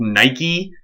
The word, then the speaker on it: Nike: this already but in when we're pronouncing greek names we always pronounce that last e so for example nike is a greek goddess